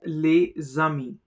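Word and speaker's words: les amis: For example, le zami. Leami. Here the s gets connected with a and produces a zed sound.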